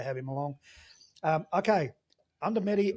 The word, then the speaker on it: Undumeri: him along um okay under medy Expeditions not under Mary under medy pronounced it right y okay so tell